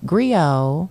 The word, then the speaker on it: griot: Instagram the American Grio Grio has a silent T at the end it's g-r-i-o-t all right check it